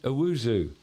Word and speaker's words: Owusu: We're talking to Precision Plumbing, but now we have Owusu. Did I say it right? Yes, sir. I did it right.